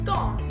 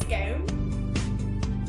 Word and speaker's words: scone: Did you know that 2/3 of the British population and 99% of all Scottish people pronounce this delicious treat as scone rather than scone?